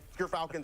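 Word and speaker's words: Gyrfalcon: my G Falcons on we actually offc screen we're figuring out how it's pronounced but ger Falcons everyone so anyone who mispronounces it that's how you say it um doing that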